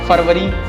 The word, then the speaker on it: February: February. It's not February, it's February. February.